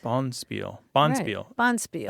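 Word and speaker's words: bonspiel: right right Bond spear boniel boniel Accent on the first Sy yeah we're getting together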